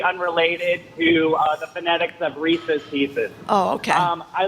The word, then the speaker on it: Reese's: So, um I want to agree with Jim in that it's Reese's because it rhymes with pieces.